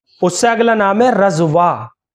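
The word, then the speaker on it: رضویٰ: اس سے اگلا نام ہے رضوا، را ہے، زواد ہے، واو ہے، اور یا مقصورہ کے ساتھ ہے، یا کے اوپر کھڑا زبر ہے، رضوا.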